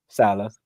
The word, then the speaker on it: Saleh: To come back, win, and have Robert Saleh, I think that's how you say it. Salah.